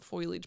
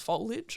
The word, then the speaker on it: foliage: stuff dad was like it's not foilage Bri it's foliage and I was like